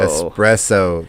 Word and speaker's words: espresso: Espresso, kind of similar to escape.